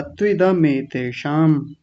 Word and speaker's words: त्विदमेतेषाम्: बस छोटी सी कमी वो ही लग रही थी, त्विद जैसा बोला। त्विदमेतेषाम् बोलिए।